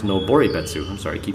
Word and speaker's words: Noboribetsu: It's pronounced Noboribetsu.